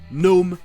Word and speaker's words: gnome: Et si un mot commence ou termine par GN, le G est muet. Comme par exemple le mot anglais pour un gnome, gnome.